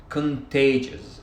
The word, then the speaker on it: contagious: Contagious. I just say contagious. The O is silent, you don't have to pronounce it.